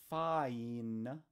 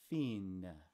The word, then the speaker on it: fine: that's rather simple and the last one is not fine it's Fein those are all Middle English